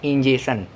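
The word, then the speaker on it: ingestion: देखो, ये इंजेक्शन का बात नहीं चल रहा है, जो सुई लगाते हैं डॉक्टर वो वाला इंजेक्शन नहीं है, ये है इंजेशन।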